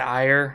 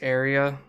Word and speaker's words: Aire: I keep wanting to pronounce it Aire. Apparently, it's pronounced Area. Trooper Geo keeps getting mad about that because they keep calling it Aire.